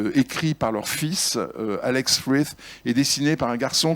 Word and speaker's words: Frith: s'appellent Uta et Chris Frith, un peu dur à prononcer, mais on a le droit de dire frites hein, si on veut, voilà, sont deux géants